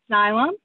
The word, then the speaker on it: Xylem: slide maybe uh yeah you got it right xylem uh that's how you pronounce it and so zion's a company where